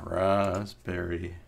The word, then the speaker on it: raspberry: And just for knowledge, Raspberry is spelled with a P. I know. I put that in there. Raspberry Pi. I know it doesn't sound like it is, but it's a rasp.